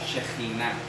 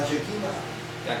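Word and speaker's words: Shekhinah: de que estuviera en desobediencia y le llamó shejina shejina la chequina aquí dicen chequina chequina shina de acuerdo así se pronuncia esto es el El ejemplo más claro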